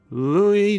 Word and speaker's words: Louis: Louis Jordan is up next. It's spelled Lewis, but don't be fooled.